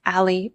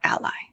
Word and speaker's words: a11y: a and Y and it's commonly pronounced Ali or Ally an overlay widget is